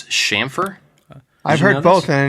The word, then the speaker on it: chamfer: you guys know that it's not CH it's a sh sound it's shamer I've heard both and